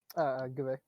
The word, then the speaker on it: Gveh: Gveh. Gveh? Gveh. Gveh. It's literally just a fucking German rifle with the last two letters cut off, baby.